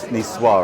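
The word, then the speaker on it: Niçoise: crispy poultry we have NCO salad n Nisar I should say I always read it how it's spelled and potato lentil soup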